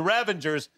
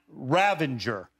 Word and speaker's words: ravager: the revengers and the ravagers and then finally i went up to him and i said sly really we got to say it right it's ravager not ravanger and he goes why